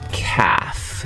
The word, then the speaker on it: calf: is called called a calf c a l f l you don't pronounce the L NOP yep that's correct